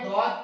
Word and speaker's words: ضاد: کے بعد عزیز طلبہ ہم ضاد کے حوالے سے جو اہم بات سیکھیں گے وہ ہے اس میں ہلکی سی واو کی آواز شامل ہے۔ ضاد میں عزیز طلبہ جیسے ہم واو پڑھتے ہیں واو، تو ضاد میں بھی ہلکی سی واو کی آواز شامل ہے، ضاد ضاد، اس طرح ہم تھوڑی